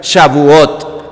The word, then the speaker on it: Shavuot: fiesta de las semanas y eso se pronuncia shavuot la fiesta de las